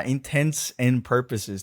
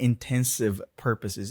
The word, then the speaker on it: intents and purposes: But yeah, intents and purposes, not intensive purposes. Even natives get that wrong. Actually, that guy is a native, right? There you go. And he said intensive because it does sound similar because of connected speech.